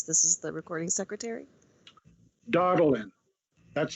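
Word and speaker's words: Daudelin: the record please this is the recording secretary darling that's spelled d-a-u-d-e-l-i-n thank you i got that so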